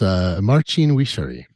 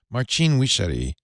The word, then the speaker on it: Marcin Wichary: It's Marcin Wichary. Marcin Wichary.